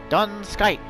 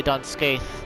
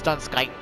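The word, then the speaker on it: Dun Scaith: heavensward 24 man set done skype that's that is the actual pronunciation by the way you might be tempted to say don't skate but it's done skype the h is like weirdly silent and the uh i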